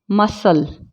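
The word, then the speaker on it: muscle: Scene, मसल, clock.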